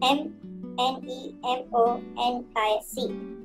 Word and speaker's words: mnemonic: is also known as nemonic these are the commands of assembly language m n e m o n i c this m is silent mnemonic all right and this